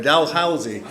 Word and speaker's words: Dalhousie: Dalhousie.